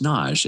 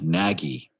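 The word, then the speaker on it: Nagy: about Naj is pronounced Naj it is it is spelled n-a-g-y like like Naggy or Naji but it's pronounced Naj I've had many Patron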